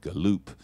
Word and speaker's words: Gallup: husband is a guy named Mark Gallup or he pronounces it galoupe and he does all